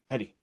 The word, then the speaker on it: Hetty: Is it Heidi or Hetty? Hetty. Okay.